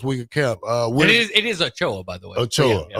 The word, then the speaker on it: Ochoa: It is Ochoa, by the way.